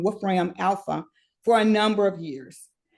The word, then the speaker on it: Wolfram Alpha: There's one called, and this one might be just a little geeky, Wolf Alpha RAM is AI.